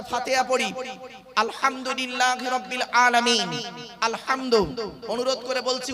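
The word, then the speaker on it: الحمد: পড়ি আলহামদুলিল্লাহি রাব্বিল আলামিন আলহামদু অনুরোধ করে বলছি উচ্চারণটা ঠিক করুন আলহামদু গলার ভেতর থেকে উচ্চারণ করবেন আলহামদু মানে হচ্ছে সমস্ত প্রশংসা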